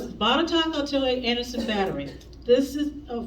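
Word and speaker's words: Botetourt: you're not from Virginia let me tell you how you say that word it's bought a top okay you would never guess in a million years that's how you say it and if you don't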